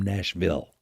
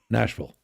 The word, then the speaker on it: Nashville: The Southerners swallow that back in. Yeah. Like, don't ever say you're from Nashville. Nashville? That's such a Yankee. Yeah, we pronounce all the syllables. Yes. Nashville. Swallow the vul.